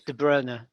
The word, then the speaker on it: De Bruyne: like to have gone we're not pronouncing de bruyne properly are we oh god I've noticed that it's de bruyne now is that like that yeah okay so